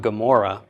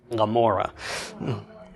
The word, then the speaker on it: Gomorrah: ora Sodom and Gomorrah well it's not Gomorrah it's Lamora okay it's that it's that swallowing your tongue sound if we were to transliterate it using the pronunciation of the I and we have today it would just be a mo r ra h r a we wouldn't even have a G at the beginning because it's such a